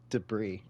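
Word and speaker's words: de Vries: 11th and hulkenberg 10th you pronounce the 15 starter's name wrong it's Nick debris debris fp3 all right uh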